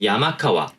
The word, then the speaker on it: 山川: 발음은 크게 두 가지로 나눌 수 있습니다. 야마카와 라고 하는 발음이 나올 수 있고, 야마가와라고 하는 발음이 나올 수가 있어요.